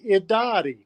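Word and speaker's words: Irari: in a d sound the r sounds like a d in our pawnee language and it's pronounced iddadi so at dottie jewelry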